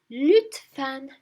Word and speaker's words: lütfen: So it'll be lütfen. Lütfen. Fan is the same as his name, Fan, but of course the look, we're going to twist it. Instead of saying look, we say lüt. Lütfen. Lütfen.